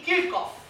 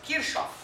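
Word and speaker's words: Kirchhoff: Isso é chamado na física de primeira lei de Kirkof. Kirkof. É o eu lia até pouco tempo atrás Kirsov, que é como se escreve Kirchof é um russo, dois Hs e dois Fs.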